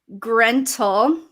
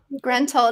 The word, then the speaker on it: Grentyl: My new name is Grentel. Yeah. Solid name. Beautiful. I love it. We stan Gruntle. Grentel. It's spelled Grentyl.